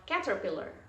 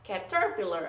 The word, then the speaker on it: caterpillar: Contohnya kalau ini di berarti bacanya adalah caterpillar, bukan caterpillar atau caterpillar atau caterpillar, no.